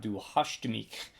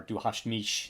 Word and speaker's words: Du hast mich: hit in 1997 called du hastemik or Du Hast Mich they pronounce it that way um you can do a hard K or uh or a sh sound for the CH sound I believe they do